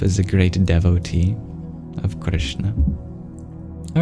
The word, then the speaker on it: Kṛṣṇa: and in this case each dot represents basically the same thing which is you curl your tongue back to pronounce it so instead of saying it Krishna try dropping the I just a pure R sound curl your tongue back Krishna Krishna get a very unique sound kind of like something